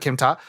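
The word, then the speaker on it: Kim Tar: It's spelled Kim, like the name Kim, space T-A-R, tar, but Kim Ta.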